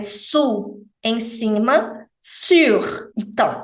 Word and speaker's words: sur: fazer esse som então sur lábios de U som de i o r final não é mudo ele tem que ser ouvido tá laista a pista